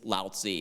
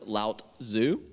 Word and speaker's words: Laozi: limit myself to one my favorite is laozi and that's spelled l-a-o-z-i all together you may have seen it spelled sometimes as two words lautzu with a t for the beginning of the second word and that confusion will